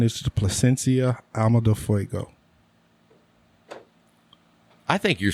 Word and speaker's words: Alma de Fuego: My number 1 is the Plasencia Alma de Fuego. I think you're saying that wrong. Alma de Fuego. It is pronounced ALMA, Alma, DEL, Del, FUEGO, Fuego.